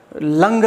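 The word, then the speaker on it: लङ्: अब लोट के बाद लंग लकार में आ जाते हैं। लंग लकार, लंग ऐसे लिखेंगे, लंग लकार। देखो इसका उच्चारण हम करेंगे लंग लकार, लड़ लकार मत कह देना, लंग।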